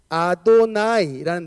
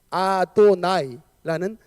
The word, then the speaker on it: 아도나이: 저 왼쪽 편에 있는 거 저게 아도나이라는 단어예요. 나중에 제가 시간 한번 나면 히브리어 발음법에 대해서 제가 조금 여러분들 가르쳐 드릴 수 있는데 어쨌든 이게 아도나이라는 발음으로 했습니다.